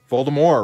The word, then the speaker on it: Voldemort: little dog sword baltimore the tea is supposed to be silent voldemort right yeah i think